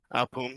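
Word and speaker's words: Poome: So I think the biggest worry right now with 100 Thieves is Poem, I believe it's how it's pronounced. Boom. Poom.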